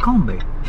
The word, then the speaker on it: Lacombe: And I said, "LacombeY." He was like, "LacombeY"? -And then he said, "Oh, Lacombe?" -I was like, "Yes, that one." I didn't know it's pronounced as Lacombe and not Lacombey.